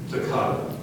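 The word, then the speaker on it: toccata: the church organ and play with fast B Takata Takata t o c c a t a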